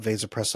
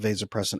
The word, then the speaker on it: vasopressin: say there are so few people talking about vasopressin on the internet that I was a little embarrassed. I read your paper and I could not find hardly anybody else talking about vasopressin at all.